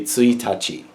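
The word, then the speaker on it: 一日: It's actually tsuitachi.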